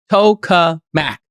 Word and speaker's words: tokamak: you shoot beams out of your hands incredible Tokamak the words cool Mac here's how you pronounce it t-o-w-k-u-h-m-a-k coca Mac this is what you're going to be hearing